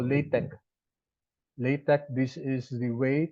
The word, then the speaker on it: LaTeX: way what we call latex latex this is the way to write equations okay this is latex it's it's pronounced as Tech not text because X here is